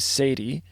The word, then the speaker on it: Sadye: And there's an artist on there named Sadie, spelled Sadye.